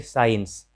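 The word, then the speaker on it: science: तो एस के बाद जब भी सी आए तो इसे सेंट पढ़ते हैं, सी का उच्चारण नहीं होता है। फिर साइंस या साइंस, तो यहाँ भी एस के बाद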